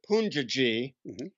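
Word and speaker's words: Poonjaji: you meet him well they pronounced a punji G and he's a famous guru in India he's gone now but everybody was telling me you gotta meet Punja ji so he taught me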